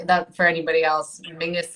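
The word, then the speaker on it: Menzies: for any body else Mingus is how weirdly the Scottish people um that's that's how they would pronounce menes I don't understand where the G comes out of it but that's it is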